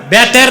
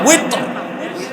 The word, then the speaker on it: ওয়েতর: তারপরে কি 3 রাকাত বেতের না ওয়েতর, এটার উচ্চারণ আমরা ভুল করি, বলে বেতের। বেতের শব্দ আছে নাকি?